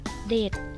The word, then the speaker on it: เสด็จ: ซึ่ง อธิบาย ไว้ ว่า เสด็จ อ่าน ว่า ว่า เสด็จ เป็น คำ นาม เป็น คำ เรียก เจ้า นาย